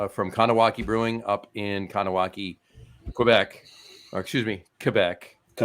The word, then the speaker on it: Kahnawake: look by the way it's it's kowaki Brewing right but I remembered how to spell it because it's like con awake yes like Wrath of Khan Wrath of Khan awake awake and of kanak like